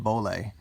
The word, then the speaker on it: Bollé: These are from, I think it's pronounced Bollé.